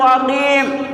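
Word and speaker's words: عقيم: کے دیکھیں، وَكَيْفَ نَنطِقُ عَقِيم، عقیم کا میم پڑھ کر کے دیکھیں۔ میم کا تلفظ کیا ہے؟ میم، منہ بند ہو جاتا ہے، دونوں ہونٹ بند ہو جاتے ہیں۔ حضرات کیا مطلب ہے؟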